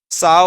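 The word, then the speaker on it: Tsao: लोग का ये वाला ये टी एस ए ओ एस इसे साऊ पढ़ते हैं ठीक है टी साइलेंट रहता है साओ और साटो ठीक है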